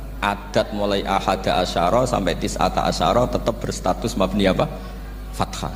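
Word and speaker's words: تسعة عشر: Tetap bacanya bukan tis'atu asyarin tapi tis'ata asyara. Jadi kita tahu secara hukum nahwu adat mulai ahada asyara sampai tis'ata asyara itu mabni apa?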